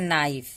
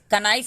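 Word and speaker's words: knee: इसको हम पढ़ते हैं नाइफ। तो इसको हम कनाइफ नहीं पढ़ते हैं, कनो नहीं पढ़ते हैं, इसको हम पढ़ते हैं नो। इसको पढ़ते हैं नी, कनी नहीं पढ़ते हैं, कनॉलेज नहीं पढ़ते हैं, नॉलेज, नॉलेज।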